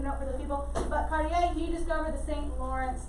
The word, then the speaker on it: Cartier: that way but please please be careful of french pronunciation and at least try so cartier that's how you say